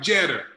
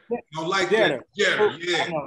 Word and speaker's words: Jeter: Hey, you gotta say his name right, Jeter. Jetter. I know. Pooh get mad if I say that.